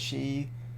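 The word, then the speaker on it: 四: Some of those have alternate pronunciations depending on context and usage. Like the 4 kanji yon can be read as she, but it's typically not done as such when counting because she is bad luck.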